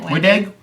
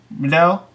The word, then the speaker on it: Wendig: Wendig, isn't it? Wendig? Wendell? Wendig. Okay, I've heard it pronounced several ways. Well, so there's no L in it, so...